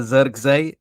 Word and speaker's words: Zirkzee: So that's a Zirkzee, you know what I mean?